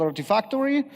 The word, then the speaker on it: Artifactory: And there are some tools, one of them actually rhymes with artifacts and called Artifactory, but there are others as well, obviously.